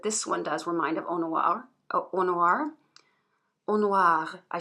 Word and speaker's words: Eau Noire: And people have also said that this one does remind of Eau Noire. Eau Noire. Eau Noire, I should say. I mean, I do know how to pronounce French.